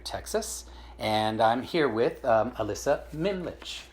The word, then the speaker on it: Ellisa Mimlitsch: And I'm here with Ellisa Mimlitsch, right?